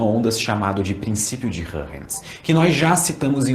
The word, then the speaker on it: Huygens: E só uma nota, eu já falei o nome Hurrens algumas outras huygens em alguns outros vídeos desse capítulo e provavelmente vocês estão me xingando mentalmente ou nos comentários, mas essa é a pronúncia certa.